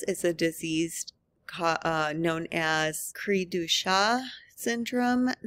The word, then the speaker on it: Cri-du-chat: The most common example of this is a disease known as Cri-du-chat syndrome. This is a French pronunciation, and it literally means cry of the cat, and it describes the characteristic cry of an affected child.